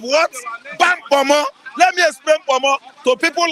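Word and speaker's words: ponmo: The name is pronounced Pomo. P-O-M-O in Yoruba language.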